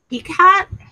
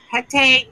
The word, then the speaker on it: Hecate: Now, if you guys are not familiar with Pecat or Hecate, depends on how you wish to pronounce it. It's kind of like depending on who reads it, depends on how they pronounce it.